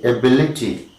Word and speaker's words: ability: The first one is ability. Okay, it is ability. All right, ability ending in ity. Ability. 1, 2, 3. And the stress is on B. Ability.